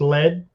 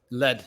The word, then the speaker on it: Led: real quick um so am i pronouncing your last name correctly it's just lead lead yep okay yep wait